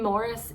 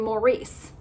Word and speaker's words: Maurice: not Scottish but uh my sons are named rubert and Morris and Morris is spelled m a u r i c e he's named up Morris Gibb uh but I learned a while ago about Prince rert of the Rind who actually had a brother named Maurice spelled the same way but I'm sure back then they said Maurice and boy they got